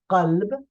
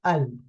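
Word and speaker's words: قلب: sound of Qaf, like Qalb, the heart, or like Qaum, ethnicity or race. So in dialectal Palestinian will be pronounced like a consonant. For example, the word qalb becomes al.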